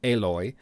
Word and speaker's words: Aloy: I know it's spelled as Alloy, but apparently, according to the developer, it's pronounced Aloy.